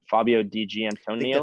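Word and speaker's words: Fabio Di Giannantonio: I'm gonna butcher his name so bad but Fabio DG Antonio is that how you say it that's right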